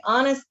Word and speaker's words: honest: Give me a, sorry, the H is silent, right? So we don't pronounce the H.